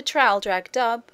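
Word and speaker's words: Traldragdubh: and my retinue to tr drag dub or Trill drog drip for it is pronounced both ways as near as I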